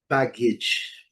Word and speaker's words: baggage: Pelo menos quem vai viajar conhece, é a palavra baggage, baggage, que é a bagagem, né?